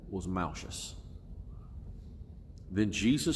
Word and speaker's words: Malchus: And the servant's name, we really need to understand this, was Malchus, M-A-L-C-H-U-S, Malchus, or Malchus, different pronunciations, I call it Malchus.